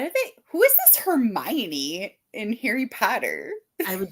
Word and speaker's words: Hermione: pronounce it wrong Heron Hermon Hermon is how I said it well Jim Dale said hermion and I was like that makes more sense all of a sudden